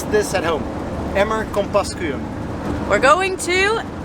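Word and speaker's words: Emmer-Compascuum: Pronounce this at home. Emmer Compascuum. We're going to Emmer Compascuum.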